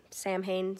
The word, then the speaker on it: Samhain: say it i'm not exactly sure but it's s-a-m-h-a-i-n samhain samhain i'm not sure um but it was